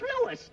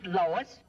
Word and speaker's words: Louis: the plant Lois Lois my name is Lewis not Lois Jake Williams everybody in toy believes me name wrong it's Lewis l o u i s Lois uh Louise